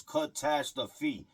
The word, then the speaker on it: Kahtaskify: That's why you're going to see it spelled K A H I, you know, K A H T A S K I F Y. So it's cut tash the feet if you really say it like that.